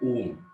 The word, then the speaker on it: ओम: ओम का उच्चारण कैसे करना है, ओ को 75% ओम बोलना है, 25% म ऐसा बोलना है, यस।